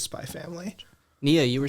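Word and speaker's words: Spy × Family: There's a X in between the Spy and Family, but you just pronounce it as Spy Family.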